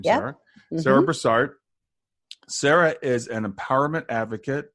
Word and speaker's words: Brassard: Sarah brassard and I think that's correct correct pronunciation your name Sarah Sarah brassard Sarah is an empowerment Advocate an intuitive healer